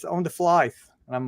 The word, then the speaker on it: Flythe: and I get pronounced Flythe, but don't Okay, ask me so how do you why. say it? It's fly. It's just fly. Fly. Don't ask me what. Just pretend like the THE isn't there.